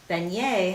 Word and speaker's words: beignet: Beignet has 1 T and it is silent.